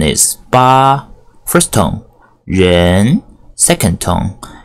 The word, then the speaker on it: 八: longer I drew right side longer hear the pronunciation is BA first on yin second tone and zu for